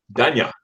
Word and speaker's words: Danya: Well, I like the way you pronounce it, but it's actually Danya. Danya. Yeah, like Okay. I don't know if Americans have this sound, but yeah.